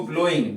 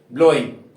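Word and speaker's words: blowing: आई जी लगाएंगे तो इसको ब्लोइंग डब्लू यहां पे क्या है साइलेंट है डब्लू यहां पे क्या है साइलेंट क्या पढ़ेंगे इसको ब्लोइंग क्या पढ़ेंगे ब्लोइंग यहां पे डब्लू साइलेंट ही रखना है चलिए ये थी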